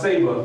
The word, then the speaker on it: Sba: It's SBA, which is pronounced Saba, The Reawakening of the African Mind.